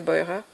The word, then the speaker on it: Beurer: Alors je sais pas si on dit Boirer en français, mais je pense qu'elle doit se prononcer Boirer.